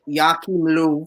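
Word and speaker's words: Joachim Löw: week um first thing uh germany head coach jackie lou that's how you pronounce it uh we'll be stepping down as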